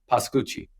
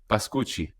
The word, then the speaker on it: Pascucci: The Italian sense is Pascucci. Pascucci. There Yeah, you that's go. it. That's Good. why I wanted to say with like that dramatic flair in the background. Pascucci.